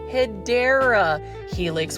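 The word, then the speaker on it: Hedera helix: And of course, we've got a Hedra helix. Say it with me. Hedra helix. That is the Hideera helix, which is the correct way to say it.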